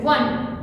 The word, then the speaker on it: one: Though it is a vowel letter, but the sound is a consonant sound.